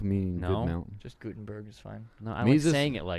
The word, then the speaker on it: Guttenberg: Am I pronouncing that right? Von Guttenberg. Not really. Gutenberg meaning No? good mountain. Just Gutenberg is fine.